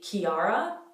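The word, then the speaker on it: Chiara: this name in italian it's always k like mechanic we do have an equivalent to this name in english it would be kiara kiara where the i is very pronounced this one's a bit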